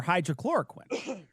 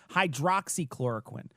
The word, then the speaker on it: hydroxychloroquine: And it's her saying that COVID is it's basically a plug for hydrochloroquine, right? Or is it hydrochloroquine? Hydroxy. I always say it wrong. Hydroxychloroquine.